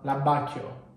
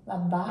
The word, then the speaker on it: abbacchio: L'abbacchio. Abbacchio.